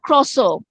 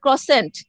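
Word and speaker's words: croissant: যেমন ধরো ক্রসো, এটা ইংলিশে, এটা আবার দেখো ইংরেজিরা উচ্চারণ করে ক্রসেন্ট, এটা উচ্চারণ কিন্তু ক্রসেন্ট না, এটা ফ্রেঞ্চ ওয়ার্ড, এটা উচ্চারণ হচ্ছে ক্রসো।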